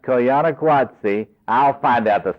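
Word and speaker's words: Koyaanisqatsi: is a documentary about the Hopi and it's pronounced coana guatsi I'll find out the spelling and tell Jim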